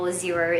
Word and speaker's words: Xero: For example, Xero is what I use now. It's spelled Xero, and it is an accounting software.